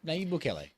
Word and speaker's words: Nayib Bukele: Its president, Nayib Bukele, did I pronounce that right? Yeah, Nayib Bukele.